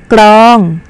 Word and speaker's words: กรอง: กรอง อ่าน ว่า ตัว กรอง คำ นี้ มี พยัญชนะ ต้น สอง ตัว นะ คะ ก็ คือ พยัญชนะ ก็ ไก่ และ พยัญชนะ รอ ลิง ค่ะ และ สังเกต ว่า เวลา